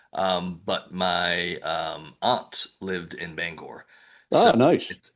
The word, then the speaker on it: Bangor: my aunt lived in Bangor, so nice. it's And been a you said it right. You said it right. You didn't say Bangor. You said Bangor.